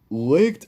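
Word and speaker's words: Licht: It's like it's Licked.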